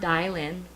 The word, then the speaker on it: Dilynn: It's pronounced Dilynn, so it's long I.